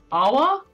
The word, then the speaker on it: Awa: The West, Awa? The West Yes. Awa Company. Just imagine a sad version of Uwu. That's how it's pronounced.